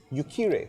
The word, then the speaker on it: Uquire: Arif sorry assalamualaikum waalaikumsalam what is the correct pronunciation of the demoscene leaf report yukkuri muslim organisation yukkuri correct do you happen to know any other